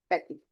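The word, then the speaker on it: petit: I will not read T, I will read till I. Petty.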